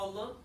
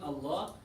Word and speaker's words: Allah: The lam is only pronounced heavy in Allah when fatha and dhamma come before it.